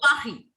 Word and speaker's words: Paris: It is a mix of R with letter Kh. Kh se khargosh in Hindi. So you have to Yes, mix ma'am. both of them. Kh. Jaise we take out the cuff from our throat.